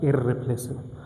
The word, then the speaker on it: irreplaceable: Same case, for example, irrelevant. I don't say irrelevant, irrelevant. Irreplaceable, I will say irreplaceable. Only one R is pronounced.